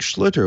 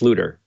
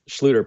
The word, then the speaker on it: Schlueter: here so we're going to bring on Isaac slitter welcome to the show thank you thanks for having me um just a start my name is pronounced looter no your clothes Schlueter probably got that over overthinking it a little